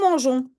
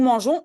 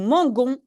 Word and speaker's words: mangeons: manges tu manges oui il y a déjà un e donc je prononce comme nous mangeons nous mangeons oui j'ai dû rajouter un petit e sinon c'est nous mangons et ça c'est pas